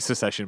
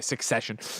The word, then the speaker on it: Succession: after not pronouncing so I keep saying secession but I know it's a succession um is the idea